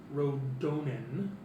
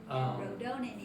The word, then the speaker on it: Rodonen: advisor, or he calls you all here Rodonin, is what he calls himself in Aquayan, but Which is translated is holy advisor. Rodonin For the and you spell it RODONEN.